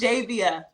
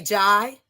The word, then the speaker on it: Jaivia: It's It's Javia. Javia. Thank you. Or we can say Jai.